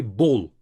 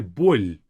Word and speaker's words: боль: This L is soft. So we don't say бол, we say боль. So it's a bit of a softer pronunciation of it.